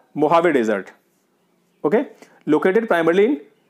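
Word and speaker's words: Mojave: मोहावे, इसको pronounce किया जाता है मोहावे, पर स्पेलिंग उसकी मुजावे होती है, ठीक है।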